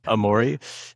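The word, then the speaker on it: Amori: Amorei. Yeah. A M O like like Italian amore with a with an I at the end.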